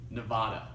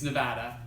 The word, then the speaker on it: Nevada: any de badan hates is when people say nevada like the biggest pet peeve saying it now makes me cringe so it's Nevada and even when I'm speaking in Spanish like